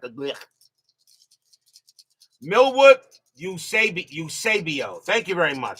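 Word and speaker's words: Eusebio: like a Milwood Usab usabio. Thank you very much. So, it's Usabio, not Usibio. Milwood will pitch. MILWOOD 62 HIT BY PITCH. NO, USABIO 32 BASE HIT PAST SECOND BASE.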